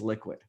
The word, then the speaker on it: LQID: to represent us so lqid has then it has the id in it but when you pronounce it we say it's liquid so you know it's